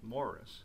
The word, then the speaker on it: Maurice: Maurice, or to use the official British pronunciation, Morris, was actually written in